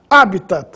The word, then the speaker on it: habitat: mas em todo caso a pronúncia oficial é habitat palavra proparoxítona no caso de Déficit